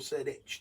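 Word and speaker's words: Cerdic: landed no seric sorry you can be pronounced cic or seric depending on how you read it landed in wat is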